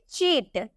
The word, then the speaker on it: cheat: क में प्रोनाउंस करते हैं। लेकिन जब हम इसे चीट, क्या CHEAT चीट लिखते हैं तो हम इसे चीट प्रोनाउंस करते हैं।